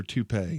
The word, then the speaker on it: toupee: I notice it, or the really bad, is it pronounced toupee or toupee?